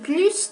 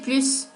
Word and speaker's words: plus: Se pronuncia la S cuando hacemos una comparación con un nombre sustantivo. Par exemple, je mange plus de chocolat que mon mari.